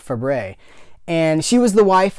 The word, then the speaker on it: Fabares: by Shelley Fabares pronounced it's written Fabares but you pronounce it Fabray and she was the